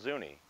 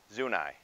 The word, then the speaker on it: Zuni: tribe zoo nice treat I understand the people are called Zuni but Denverites called a street soon I okay let's head out